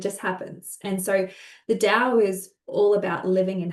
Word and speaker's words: Dao: Um, so it's pronounced d o w dao.